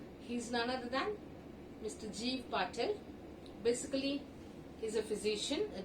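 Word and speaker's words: Gieve Patel: But as far as my idea is concerned, as he belongs to India, so it must be Jeev Patel only.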